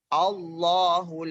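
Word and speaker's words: الله: ya di sini dikatakan Apabila ada kalimat Allah berada di awal kalimat atau Susunan kalimat macam maka dibacanya huruf tafkhim tafkhim itu seakan-akan huruf awal Ahu Allohu laa ilaha illa huwal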